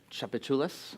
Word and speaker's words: Tchoupitoulas: her is Bill Ross whose film I'm gonna pronounce it Tchoupitoulas perfect did I do well yes and would